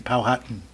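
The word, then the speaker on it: Powhatan: Pohatan Pohatan, Manhattan. Pohatan is the hot the Hatton is spelled the same. Po hatton. It's about spelled the same.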